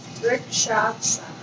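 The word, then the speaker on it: वृक्षासन: Vrikshasana.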